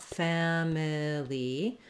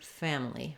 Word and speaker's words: family: so I don't want family but rather family family sometimes so it has the first syllable stress the a vowel it